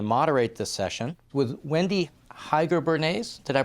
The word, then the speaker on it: Heiger-Bernays: Henrik Selin from the International Relations in the Pardee School is going to moderate this session with Wendy Heiger-Bernays, did I pronounce that correctly?